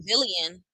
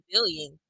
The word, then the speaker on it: villain: Summer said she got booed because she's a villain, but she pronounced it wrong. She's a villain. Billion. She's trying to say villain.